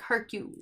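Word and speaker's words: Hercule: you say the name Herc you pair up parole room brought parole his name like Herc you like you yeah he never did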